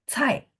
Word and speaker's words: 菜: 猜， Belum, masih naik belakangnya. Cai. 菜， Ya, 4. Jadi dia tekan belakangnya, nggak boleh naik.